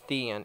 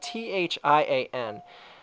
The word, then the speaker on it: Thian: And yes, I call his name Thean. It's spelled T-H-I-A-N. I prefer to call it Thean. I mean, I don't know. People are saying, like, well, shouldn't it be Thian, like Brian? No, I call it Thean.